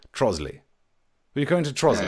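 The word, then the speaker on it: Trottiscliffe: It's spelt Trotter's Cliff, but of course the posh people, Trosley.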